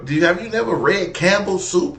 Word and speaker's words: Campbell: Yeah, I don't know if it's Campbell or if it's Camp Bell. But whatever apartment it is, don't move there. Girl, the P is silent. It ain't two words.